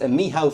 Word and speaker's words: Michał: Well, my name in Polish is pronounced Michał, so I have a plate that says Michał.